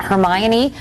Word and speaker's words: Hermione: I know I know I've had so many different interpretations like oh um herion uh her but now I guess now I guess because of the movie everyone knows how to say her name and Hermione like Emma